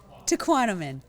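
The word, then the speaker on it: Tahquamenon: I mean, I've never been, is it Tehuantepec Falls or something? How do you say it? Tequanimon.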